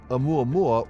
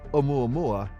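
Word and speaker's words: ʻOumuamua: Hawaii at Hilo, and it includes a Hawaiian okina, not an apostrophe, which is pronounced as a glottal stop. Before settling on the name Oumuamua, there was another suggestion.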